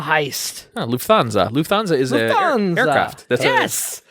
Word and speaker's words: Lufthansa: go daniels number five oh yeah i can't pronounce it but it's the luff anza heist lufthansa lufthansa is the aircraft yes major major air